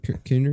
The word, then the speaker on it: Kiner: Kevin Kiner, is that how you pronounce it? oh yes, Kevin Kiner is coming back to do the score. That is correct, Kevin which is Kiner- exciting.